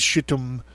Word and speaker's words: Shittim: Nay, not even the 7 most excellent among them were found worthy, but only the species shittim. It's Shittim. I'm trying to find a way to pronounce it that doesn't sound like shittim, okay?